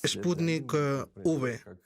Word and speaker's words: Sputnik V: Él lo pronuncia, y por ende yo también, como Sputnik V. V como en Victoria.